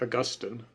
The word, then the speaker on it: Augustine: You have some people pronounce this Saint Augustine, but I've always pronounced it Augustine.